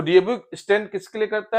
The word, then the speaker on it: DOB: तो DOB stand किसके लिए करता है, date of birth. Next is हम इसको डोब नहीं पढ़ सकते because it is abbreviated word. Yes, इट is pronounce letter by letter.